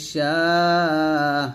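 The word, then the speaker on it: شَاءَ: জবর মা ইল্লা বিমা শিন আলিফ জবর শা হামজা জবর আ সাথে চার টান দিতে হবে আর চার টান দিয়ে আমরা হামজাকে সাকিন করব এরকম ইল্লা বিমা শা এরকম ভাবে পড়ব আবার ওয়ালা ইউহিতুনা বিশাইইম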